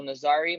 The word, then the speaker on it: Nasari: We have another interview with Michael Imperato and Nasari. Am I pronouncing that correct? Nasari? Yes, sir. Yep.